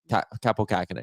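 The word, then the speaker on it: Kaapo Kähkönen: color oh Colorado claimed kappo kakenan from Winnipeg they say his name cap Capo kaken yes um he was good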